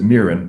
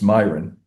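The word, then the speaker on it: Miran: I've heard people pronounce it Mirin, but I was and I heard people say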